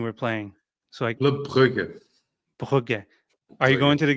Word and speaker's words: Brugge: Frederick, how do you pronounce the team we're playing? So Club Brugge. Brugge.